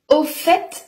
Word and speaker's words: au fait: en fait c'est difficile au fait dont le T se prononce également permet d'introduire un nouveau